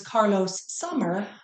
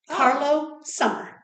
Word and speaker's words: Carlo Sommer: together so it was Carlos Sommer right well I always thought it was Carlos Sommer right it was not it's Carlo Carlo Sommer all right and it's